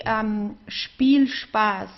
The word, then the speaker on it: Spielspaß: So Spielspaß, we would pronounce the SP of Spaß, of the second word, also as sp, because there are two separate words actually that are put together.